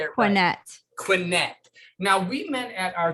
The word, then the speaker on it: Quinet: i want to make sure i say it quinette now we met at our good friend george